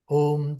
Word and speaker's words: Om: So Om is the most prominent name of Brahman, and this Om word is made up of three syllables: A, U, and Ma. A means originator, U, uh, organizer or sustainer, and Ma is a destroyer.